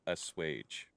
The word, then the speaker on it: assuage: According to Google, it's pronounced assuage.